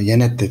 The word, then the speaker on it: Jeanette: Jeanette, arkadaşlar Jeanette diyelim. J-Y okunuyor.